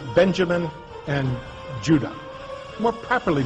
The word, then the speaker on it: Judah: were called Benjamin and Judah more properly pronounced UDA because we didn't get the harder sound to the J until about 200 years ago so this is what